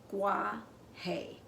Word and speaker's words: Guaje: trees in the rainforest in case you didn't know this is how you pronounce it uh Gua hay and wolf Adams wasn't